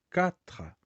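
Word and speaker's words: quatre: aqui não é diferente como é a pronúncia Catra viu lembra ao Catra né C como é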